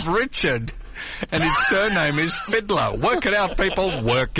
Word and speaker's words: Fidler: Richard fidler's phone number Fiddler it's pronounced Fiddler is it yeah I know another